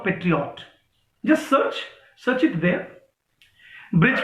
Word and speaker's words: Brij: ब्रिज की spelling भी कितनी गलत लिखी है हुमा खान आपने, हैं?